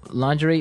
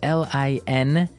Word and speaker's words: lingerie: So lingerie, but it's very nice, very... like pretty, sexy. Sexy underwear, yeah. Yeah. Now, the spelling of this word is interesting, isn't it? Yeah, it's spelled L-I-N-G-E-R-I-E.